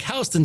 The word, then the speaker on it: Houston: named houston and houston one is pronounced like houston texas and the other is pronounced like houston street and asked her why